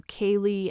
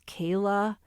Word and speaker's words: Kaylee: He referred to Kaylee as Kayla, and he had to repeat Xana Kernodle's name 4 times.